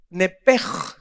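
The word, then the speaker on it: נפש: Y la Biblia le llama Nepesh. Nepej, porque la CH en el hebreo se pronuncia como J, Nepej, que se tradujo alma.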